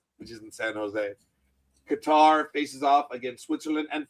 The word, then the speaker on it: Qatar: And when you ask someone from Qatar how it's pronounced, they tell you it's Qatar, not Cutter.